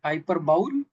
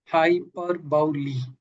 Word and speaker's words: hyperbole: So how do you think how it is pronounced right? Hyperbowl. Hyperbi hyperbull quick check the chat box as well.